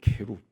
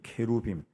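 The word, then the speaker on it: כְּרוּב: 왜 성경에 그룹이라고 번역이 돼 있느냐 하면은이 원래 히브리어 발음이 케루이에요. 케룹.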